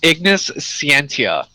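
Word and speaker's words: Ignis Scientia: science oh my God his name is ignis sientia spelled like science his name is [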